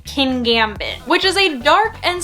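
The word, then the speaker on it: Kingambit: scary looks pretty intimidating whose name reminds me of when people try to pronounce petmart and PetSmart but I believe it's supposed to be king Gambit which is a dark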